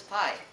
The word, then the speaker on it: Pi: Hello, my name is Pi, pronounced like the dessert and the mathematical term.